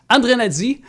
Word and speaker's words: Andrianady: Alors, André Nadi. Dorénavant, tout le monde dans la communauté, vous allez dire André Nadi. C'est réglé parce que dans ta langue malgache, c'est comme ça que ça se prononce.